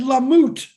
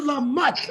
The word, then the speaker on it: Lamotte: Lamoute. Go ahead, brother. Did I say it right that time? Mutt. You know a mutt? A doggy? Like a dog. Lamotte.